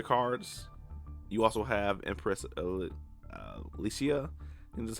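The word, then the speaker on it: Alasia: You also have Empress Alicia, and that's how you say it.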